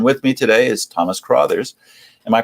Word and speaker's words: Crothers: And with me today is Thomas Crothers. Am I pronouncing that correctly? You are Crothers, yes.